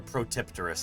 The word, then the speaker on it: Protopterus: Oh, Protopterus. Or Protipterus, I've also heard it pronounced, but I like Protopterus.